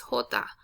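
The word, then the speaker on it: jota: is the j okay the j is always going to sound like an h okay and the way you say the letter j the name of the letter is hota okay so you can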